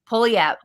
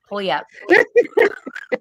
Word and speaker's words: Puyallup: Puyallup. Puyallup. Puyallup. Say it for me, Julie. Puyallup. Puyallup? That's not how it's spelled, though. It's like Pullywap.